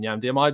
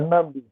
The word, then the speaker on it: Nnamdi: Let's go to Nnamdi, who I'm hoping I'm pronouncing your name correctly. Nnamdi, am I right? Yes, you are, Nnamdi.